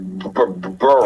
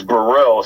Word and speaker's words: Burrell: your last name correctly yes sir it's bur it's bur it's not like uh the old Phillies player Pat Burl Pat Burl yeah it's not like that it's Burell so it's got it